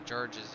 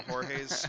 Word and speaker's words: Jorge: the Georges you mean no I mean all the Jorge's felt like George it's not your fault that your name is spelled like an American name it's the same name just different cultures sorted out here so